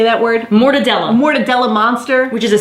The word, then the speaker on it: mortadella: Mortadella.